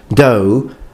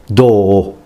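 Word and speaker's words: 胴: that it's not pronounced do but it's pronounced do so double O okay you just make it longer this is probably the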